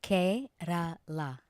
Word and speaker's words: Kerala: It's Kerala.